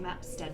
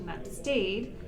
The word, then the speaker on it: Mapstead: We just had a quick conversation about how to pronounce his last name because Aussies say Mapstead, but it's actually Mapstead.